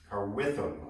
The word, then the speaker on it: Carwitham: Floor cloth is from a modified design from John Carwitham, I think is how you pronounce it.